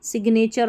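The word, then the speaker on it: signature: अब इनके देखिए बीच में आ रहा है सिग्नेचर और सिग्नल में। यहां पर हमको जो है इनका उच्चारण करना है। यानी इनका किसका जी का उच्चारण करना है। ठीक है? साइन डिजाइन असाइन रिजाइन ये लास्ट में जी एन आ रहा है। इसमें जी का उच्चारण नहीं करना है। सिग्नल और सिग्नेचर में आपको ख्याल रखना है। यहां पर हम जो है दोनों का उच्चारण कर रहे हैं।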